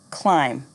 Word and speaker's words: climb: me knife knee no silent B thumb lamb climb repeat after me thumb lamb